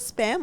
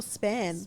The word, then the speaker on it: span: spans as well have, is it spam or span? Span. Wow, I've been saying it wrong all my life.